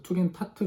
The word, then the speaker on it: Tugendhat: 우선 그 명칭에 대한 발음부터 한번 짚고 넘어가자면 투겐하트라고 발음되는 경우도 많이 있는데요. 독일어 같은 경우에 D자는 T자로 보통 발음이 되기 때문에 투겐트 하트, 뭐 이걸 줄여서 투겐타트 주택 이렇게 한글로는 표현을 하는 것이 맞을 것 같습니다.